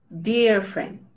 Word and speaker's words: dear: Pero la realidad es que la pronunciación es como más ie. Dear friend, my dear friend.